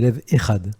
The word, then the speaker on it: Lev Ehad: C'est bien ça, enfin l'émission exactement c'est Lève et Ad. Ah pardon, voilà, le H, oui moi je le prononce à la française évidemment. Il n'y a pas de problème. Et vous à l'israélienne.